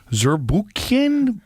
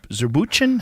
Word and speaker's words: Zurbuchen: Zurbuchen? Zurbuchen?